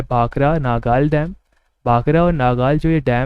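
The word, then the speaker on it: भाखड़ा: वो भांगड़ा है, और जो भांगड़ा है उसका प्रोनाउंसिएशन लगभग सिमिलर है भाखरा से।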